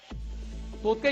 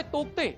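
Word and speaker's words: Tauktae: या वादळाचं नाव तोते असल्यानं नावातल्या स्पेलिंग मध्ये असलेला के उच्चारला जात नसल्याचं काही जाणकार सांगतात. त्यामुळे तोक्ते ऐवजी उच्चार तोते असा असावा असा सल्ला वैज्ञानिक देत असले तरी त्याबाबत एकवाक्यता आढळत नाही.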